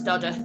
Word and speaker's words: Dodworth: It's spelt Dodworth, but it's Dodworth. That's how they pronounce it locally.